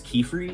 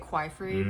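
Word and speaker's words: Qifrey: Right here, his name is Kefri, is how I pronounce his name. I say it Quifrey, but okay. that's one of those things. Oh, right. Tomato, I guess.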